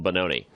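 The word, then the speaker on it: Benoni: position it's still a bonon which if you didn't get the memo earlier it means son of sorrow and it rhymes with balone bonon is just bad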